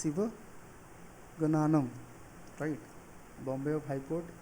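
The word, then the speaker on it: Sivagnanam: Chief justice कौन है, टी.एस. शिवगनागनम। तो प्रोनाउंसिएशन में दिक्कत हो रही है ना, टी.एस. शिवगनानम, राइट।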